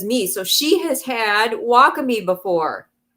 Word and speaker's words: wakame: And so it's pronounced wacami.